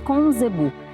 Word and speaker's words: Conzebu: Se escreve com C, mas se diz Conzebu.